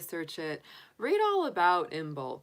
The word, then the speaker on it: Imbolc: um today is actually the official day of inbulk that um you know yesterday was technically like